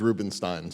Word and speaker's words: Rubenstein: My father says it's Rubenstein, so I go with that. Rubenstein, okay.